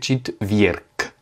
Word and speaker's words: четверг: Alors là, pas de si, le y, il n'est pas accentué, du coup il se prononce comme un i, et le g à la fin, comme il est à